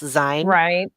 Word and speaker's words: Sein: He's like Sein, I think, but again, everything's Germanic, so it's Zine.